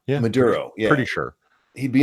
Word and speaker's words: Maduro: Maduro. Sure. Yeah, I think it's Maduro. Yeah, Maduro.